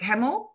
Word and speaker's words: Hamill: Hamil. Hope I'm pronouncing it Hamil. Correct. Hamil?